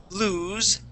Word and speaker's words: lose: an oo sound okay now in this word it sounds like a z it's voiced okay so when we pronounce that lose when you pronounce that Z you can feel the vibration here in your throat loose no vibration lose